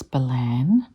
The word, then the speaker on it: Ballan: BWI I don't know but Balon sounds like an Aboriginal word to me but when I was there and I asked I was told it's Balan and chriswick so I'm